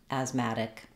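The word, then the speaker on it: asthmatic: comom and this is my smart American accent training in this video we'll look at how to pronounce Asma and asmatic so Asma has a very strange spelling considering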